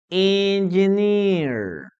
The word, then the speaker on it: engineer: mind, guys, is that engineer has a long vowel. So what does it mean? That we have this. Engi, engi, engi, engineer. Okay, long vowel.